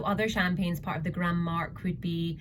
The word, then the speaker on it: Grand Marque: So they are actually one of the original Grand Marque. That's a terrible pronunciation. I think it's French, so it's going to be Grand Marque.